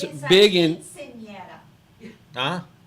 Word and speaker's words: Quinceañera: It's actually kind of like a Sweet 16 party, only it's for 15 years old, and it's big in quinceañera.